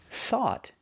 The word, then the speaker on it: thought: Thought has a th, so we make a little air with our teeth. Thought. But we end with a stop T.